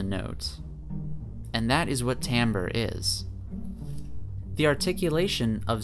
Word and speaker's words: timbre: dynamic of the sound Tambor is an interesting term it's one that many people are not familiar with much less able to pronounce properly but Tambor refers to